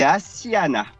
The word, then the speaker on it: Asiana: J'ai bien prononcé ou pas, Florent? C'est Asiana. On a deux S, on a une petite particularité. Ah, Asiana, ok.